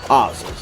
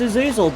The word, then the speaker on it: Azazel: boss in Tekken history oel I was referring to him before as isil but apparently the game pronounces it oel so we'll go with oel and now that that